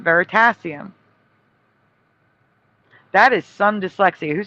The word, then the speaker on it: Veritasium: s i u m veritasium that's what it is and he remembers ver sadium or sadium I don't know how he pronounced it yeah yeah it's just literally flipping the word sat and pass okay yeah the state